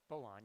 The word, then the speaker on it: Balan: Balan.